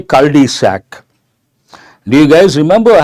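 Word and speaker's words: cul-de-sac: a dead end Road we have to say cisac do you guys remember I have given a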